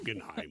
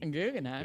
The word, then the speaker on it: Guggenheim: Guggenheim. Guggenheim.